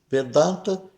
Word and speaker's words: Vedanta: fim dos vedas e é pronunciado como se fosse vedanta e não vedanta ou vedant, né? Então, cuidado, o V é fechado, V, né? Da dar, né? Dá eh um tem um a longo e aberto da tá, né? Não é vedanta, não existe essa nasalização aqui no no a vedta, tá?